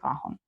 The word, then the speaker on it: cajón: в мене сьогодні здрукуванням кахон у нас з наголосом інакше за правилами буде cajón está La cuchara en